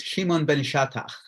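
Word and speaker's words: Shimon ben Shetach: you say shut up I I think it's Shimon Ben shatta so you did I just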